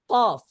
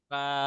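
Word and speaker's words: ك: মধ্যখান পেঁচানো cafe কাফ cafe. এটা খুব কঠিন করবার কিছু নাই, এটা বাংলা কাফ ক এর মতোই। এক কথায় বলতে গেলে বাংলা ক যেভাবে উচ্চারণ করি কাফও সেভাবেই উচ্চারণ হবে নাকি?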